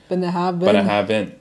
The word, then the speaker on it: Bunnahabhain: The idyllic location ofBenhaben, pronounced Benhaben. It's not bang, it's ven. Benhaben.